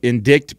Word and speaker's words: indict: to in pronounce it indict because it originally spelling in english was or excuse me we pronounce it in it in indict because its original spelling in english was e-n-d-i-t-e a spelling spelling that